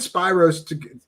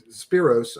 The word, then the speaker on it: Spyros: you know him and spyros spiros i'm sorry it's a weird name it's hard to say it right okay i always do that i say spyro's not spiro so i'll go with you because you yeah so